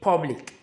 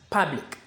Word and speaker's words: public: We don't say public. The correct pronunciation is public.